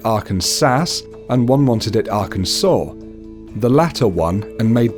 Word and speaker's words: Arkansas: by the government is Arkansas the law states it should be pronounced in three syllables with the final s silent the a in each